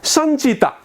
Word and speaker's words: सञ्चिता: अर्को हेर्नुहोस् त, सञ्चिता, सञ्चिता। सन स लेख्ने, नलेख्ने, नलाई हलन्त गर्ने, अनि फेरि थोप्ला दिने, सन चिता। 3 पटकमा उच्चारण हुन्छ, सञ्चिता।